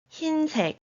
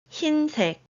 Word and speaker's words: 흰색: 강의, 강의, 흰색, 흰색, As you can see, letter 흰 in 흰색 uses 히읗 instead of 이응 to make up the letter. That is why vowel 의 is pronounced as E instead of its original sound.